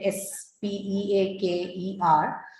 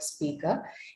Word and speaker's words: speaker: k e r so in that particular word you do not actually pronounce the uh r you don't articulate that r sound at the end of the word speaker instead what you hear there is vishwa sound speaker a father a teacher